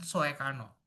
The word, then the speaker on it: Soekarno: Dan penggunaan huruf OE untuk vokal U. Mengapa? Contohnya adalah kata Sukarno dan Soekarno.